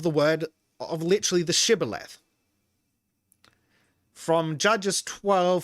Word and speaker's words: shibboleth: they said all right say shibboleth if he said sybil because he could not pronounce the word correctly they seized him and